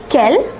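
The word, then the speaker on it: quel: kill kill and kill all the four are pronounced Kel and do you remember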